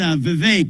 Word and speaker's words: Vivek: It's Vivek. It rhymes with cake.